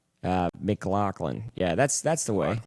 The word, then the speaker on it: McLaughlin: It's definitely not Mclofflin. I hate when people say that. Uh Mclaclin.